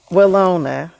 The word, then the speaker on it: Willona: actually did not hear that you want Valona. to add? Valona. Willona. Okay. I don't even know how you even spell that.